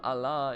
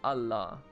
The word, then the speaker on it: Allah: So, I was also informed that it's not Allah, it's Allah. I think. Allah. Like, it's a short A sound there.